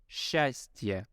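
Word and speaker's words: счастье: a steer right so but instead we would pronounce it as shastia just with Shu in the very beginning and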